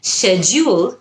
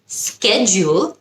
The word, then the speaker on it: schedule: আরেকটা শব্দ যেটার উচ্চারণ নিয়ে আমরা অনেক সময় অনেক কনফিউজ থাকি, schedule নাকি schedule, দুটোই কারেক্ট। schedule হলো ব্রিটিশ, schedule হলো আমেরিকান। এখন থেকে কিন্তু আপনারা যে